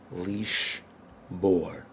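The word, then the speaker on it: לִשְׁבֹּר: infinitive in this infinitive the bet is pronounced just like that with a B sound leash bore down either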